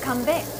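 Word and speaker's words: 건배: Kanbei.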